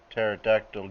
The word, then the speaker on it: pterodactyl: you never hear a pterodactyl use the toilet no because they're extinct because the p is silent why did the tomato